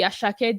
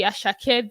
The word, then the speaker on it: Asake: we used to know the deeply rooted African Nigerian asak not the ashak that is coming to sing with us with some UK accent and you know pronouncing his name in some funny way so I think people